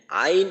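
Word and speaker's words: عين: গইন উচ্চারণ করার সময় আইন এইখানে দেখেন এই বাংলায় নাম লেখার মাঝে স্বর আ রস ই এবং দন্তন্য তো এইখানে যে রস ই আছে তো এই রসইর মাঝে টান দিতে হবে আইন গইন আইন এবং গাইন উভয়টার ক্ষেত্রেই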